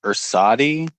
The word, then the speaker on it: Ursidei: I think it's Ursadi. Ursidei, which is Romanian for bear, right?